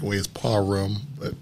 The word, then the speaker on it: Parham: contribute in writer coach Steve Parham am I pronouncing your last name correctly the hood say Parham the correct way is Paul room but param it's all right okay is that French Genesis